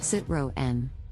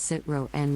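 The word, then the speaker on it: Citroën: a French car brand sit row N the correct pronunciation is sit row N with the emphasis on the second syllable many people mispronounce it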